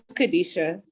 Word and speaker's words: Kadisha: Did I say it right? It's Kadisha.